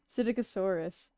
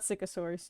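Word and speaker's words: Psittacosaurus: Here, let me Siticosaurus, not Sycosaurus.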